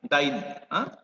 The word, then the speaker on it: diene: So how it is pronounced, buta 1,3-diene, DIENE, डाईन. असं ADIENE जरी लिहिलं तरी असतं त्याला प्रोनाउन्स काय केलं जातं, डाईन प्रोनाउन्स केलं जातं, डाईन.